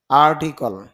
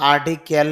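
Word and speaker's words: article: আর্ট শিল্পকলা, আর্টিকল, যদিও আমরা আর্টিকেল বলি কিন্তু আইপিএতে দেখা যাচ্ছে আর্টিকেল না, আর্টিকল।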